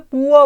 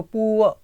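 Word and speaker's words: poor: पुअर मैन पूवर मैन ये are silent है इसलिए पुआ बोलते हैं इसको पुआ है ना वन डे अ पुआ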